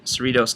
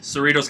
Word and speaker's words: Cerritos: mount sac relays April 14 through 16 in Cerritos California do I pronounce that correct Cerritos California data is correct okay and then we